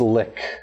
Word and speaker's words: lich: I might choose vampire though because I don't like how you guys pronounce Lich. That's like solely the reason. It's lick. Okay. Can we just That's call how it Lich it's pronounced. Pronounced lick. Lick.